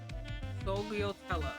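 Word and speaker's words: sfogliatella: Sogliatella. Okay, he says the F somehow, but I can't do that. Lan, that's wrong. It's Sogliatella.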